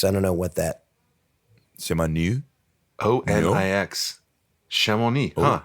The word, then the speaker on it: Chamonix: Chamonix. ONIX. Chamonix. Huh. How interesting. The X would probably be silent.